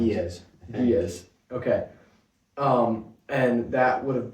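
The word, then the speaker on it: Ge'ez: And the most complete version of the Book of Enoch was the Giaz or something. I don't know, something hard to pronounce. Doug, you said you know how to pronounce it. Giaz.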